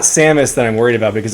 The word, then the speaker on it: Samus: You should look up how you pronounce Samus before I get in trouble for pronouncing it incorrectly on the video that I'm editing currently. What do you mean, Samus? Yeah, exactly. It's actually not Samus that I'm worried about because I have Smash